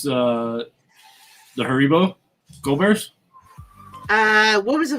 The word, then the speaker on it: Haribo: Haribo.